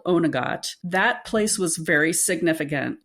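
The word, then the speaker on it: Oweynagcat: county roscom in Ireland called onot and I had to practice that quite a bit because it is not spelled like it sounds those Irish words are tough so there's this cave called onot that place was very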